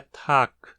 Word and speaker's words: Tag: Um exemplo é o alemão Tag, onde o G final é desvozeado, tornando a pronúncia Tag.